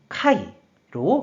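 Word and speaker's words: 戒: 그래서 경계할 개가 되었고 뜻으로는 이마시메루, 음으로는 카이로 각각 발음한다고 설명드렸어요.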